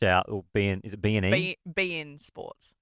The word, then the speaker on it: beIN Sports: beIN Sports. Like Bean, like B-E-A-N. No, Mr. Bean. like BEIN, like be in it, like beIN Sports.